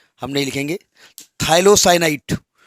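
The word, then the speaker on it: phthalocyanine: थाइलोसाइनाइड, PTHA होता है, पथाइलो नहीं होता है, PTHALOCYNID, PTHALOCYNID, थाइलोसाइनाइड।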